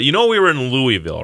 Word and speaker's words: Louisville: or not but you know we were in Louisville right I know Marv took it over from